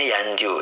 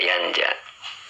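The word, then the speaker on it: ينجُ: huruf jir Oh Derbi yanju yanja bacanya enggak bisa bacanya yanju Ya jadi tidak tidak yanja yanju ya Heeh jadi bacanya yanju karena lam itu menjazemkan ya tidak nasab tidak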